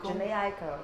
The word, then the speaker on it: Jhené Aiko: Jhené Aiko.